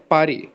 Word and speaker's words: Paris: क्या प्रोनाउंस करा आपने पेरिस के लिए? Paris. À Paris.